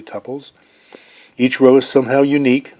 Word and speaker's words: tuple: are known as tuples i for the longest time pronounced this two poles and was corrected it's actually tuples each row is somehow